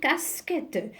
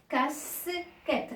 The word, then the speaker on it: casquettes: à quatre casquettes alors ici j'ai la lettre e s ici on l'a bien prononcé leur s casquette mais à la fin c'est le pluriel est ce du pluriel on l'a pas prononcée alors je passe à